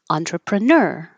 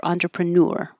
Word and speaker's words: entrepreneur: And we started with entrepreneur, entrepreneur. You can also hear it said newer, entrepreneur, but the dictionary listed this one as the first one, which means it's the more common.